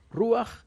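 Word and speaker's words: רוח: Ahí en la tradición, de hecho dice Ruaj con acento en la U. Ruaj, Elohim, el espíritu divino,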